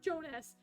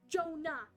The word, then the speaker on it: Jonah: Jonas he died Jonah I keep getting his name wrong too his name is Jonah not Jonas Jonah Jonah I have a I